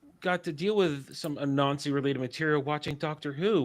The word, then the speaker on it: Anansi: When you guys say Anansi, it sounds like you're literally saying a Nazi.